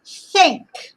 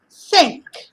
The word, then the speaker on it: think: Think. Think. Pink. When we have a TH in English like this, is a th. Th. Th.